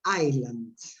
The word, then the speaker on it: Island: Okay, Kangaroo Island. Remember not to pronounce the S because Iceland is a country.